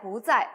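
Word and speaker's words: 不在: 두 번째 성조 로 바꿔서 ' 부자 이 ' 라고 읽으세요 . 예 . 그러므로 "tā zài bú zài" 라고 말 하면 " 그 는 지금 여기 에 없습니다 " 라고 대답 할 수 있습니다 .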